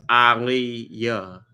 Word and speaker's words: Aaliyah: And that is why it's pronounced Aliyah, like Muhammad Ali.